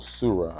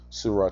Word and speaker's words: Surah: give me a minute if you go to sah or surra I keep saying it wrong Surah chapter 9 verse 23